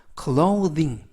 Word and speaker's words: clothing: 이때의 th 발음은 번데기 발음이 아니라 돼지꼬리 발음으로서 the 라고 발음을 하시면 됩니다. 번데기 발음 th가 번데기 발음일 때는 무성음으로서 발음을 하실 때 성대의 울림 없이 발음을 하시고요. th가 돼지꼬리 발음일 때 이번 단어처럼 돼지꼬리 발음일 때는 유성음이기 때문에 성대의 울림을 하시면서 발음을 하시면 되겠습니다. 그래서 clothing, clothing 이라고 발음하시면 되겠고요.